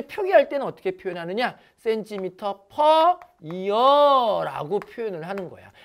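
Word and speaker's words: per: 요거를 퍼라고 읽어요.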